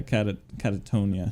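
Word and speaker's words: Katatonia: Especially if you're talking about Catanoia. Is that how you say it? Yeah, Catatonia. Oh yeah, dude, I'm so bad at pronouncing names.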